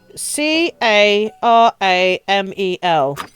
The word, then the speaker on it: caramel: to pronounce the word c a r a m e l and how many syllables are in that can we all agree that there are three syllables in caramel okay I don't mean